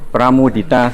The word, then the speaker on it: Pramudita: Pramudita. Pak. Saya A ujungnya.